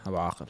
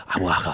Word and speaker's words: Abu Aqil: I just say it the English way. Then after when I meet the Middle Eastern people, they're like, Abu Akil. I'm like, yeah, that's how you say it.